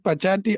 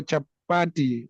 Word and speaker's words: chapati: Is it pachati or chapati. I forgot the name. Pachati ki jai. Yes, How do Prabhu. you pronounce it, bro?